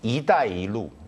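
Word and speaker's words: 一带一路: 1대1로, 저희는 1대1로라고 발음하는데 발음 한 번만 해주십시오. 중국어로? 네네, 중국어로. 이다이루 이렇게 얘기를 합니다.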